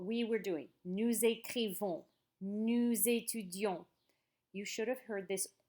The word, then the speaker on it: nous étudions: See how there's that O-N-S on the end? Do I pronounce the S? No. And if you look here, I'm going to say it again. Nous étudions. Don't forget, I just told you to pronounce N-O-U-S like nous, unless the next word begins with a vowel. Then you're going to use that liaison.